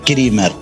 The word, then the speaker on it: Krimer: Pues bueno, ¿cómo se pronunciaba el apellido, por favor? Porque El apellido es Krimer.